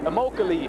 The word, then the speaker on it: Immokalee: Immokalee, Florida.